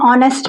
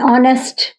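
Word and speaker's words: honest: ये हार नहीं बोलते इसको, ठीक है, एच साइलेंट है, ठीक है, आ की आवाज आ रही है।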